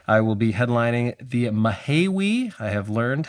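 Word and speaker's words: Mahaiwe: So, on Saturday, March 14th, I will be headlining the Mahiwi I have learned how to say it.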